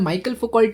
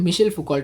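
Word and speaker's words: Michel Foucault: इनका नाम माइकल फोकल्ट नहीं है। इनको हम मिशल फोकल्ट बोलते हैं।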